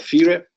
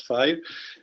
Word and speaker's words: FIRE: Managing Director of FIRE. We pronounce it in the Italian way, not FIRE.